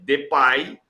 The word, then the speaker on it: Depay: A gente já disse que na Holanda a pronúncia oficial, a pronúncia na Holanda é Depay, e que o Memphis